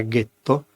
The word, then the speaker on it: ghetto: È ben noto che nella primavera del 1516 a Venezia è nato, nella zona detta del getto nuovo delle fonderie, per gli ebrei tedeschi la pronuncia era ghetto, appunto il ghetto più antico al mondo.